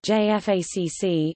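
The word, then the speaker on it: JFACC: joined force air component commander J FACC is a United States Department of Defense doctrinal term it is pronounced J FAC it refers to a senior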